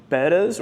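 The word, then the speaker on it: betta: and then again some of those Killy fish betas or betas if you're old school like me and remember when they called them betas even though everybody it's the correct pronunciation is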